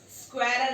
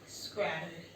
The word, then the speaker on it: squirrel: स्क्वायरल है ना, SQUIRREL, स्क्वायरल। एस बोला कर, एक्स मत बोला कर।